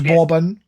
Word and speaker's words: Bobbin: My name is Bobbin. Beg pardon? Bobbin. Like Bobbin. the biscuit. Bobbin. Spell it out, mate, please. Bobin. Bobbin. Right, okay. RN. It's like Robin with a B.